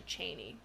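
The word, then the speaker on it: Chani: the books was like no it's actually Cheney Cheney like Dick Cheney like Cheney it's kind of funny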